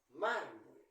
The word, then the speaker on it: mármol: s ni en vocal mármol Dónde lleva la ferza de voz mármol en la penúltima s y s lleva ti porque no termina ni en N ni s ni en vocal tijera Dónde lleva la